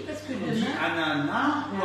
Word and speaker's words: ananas: Dit ananas ou ananas? Ananas. Ah. On ne prononce pas le S.